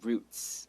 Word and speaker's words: routes: tsr's various routes and routes are kind of like a path that it takes you can say routes or you could also say roots some people pronounce it roots okay so various roots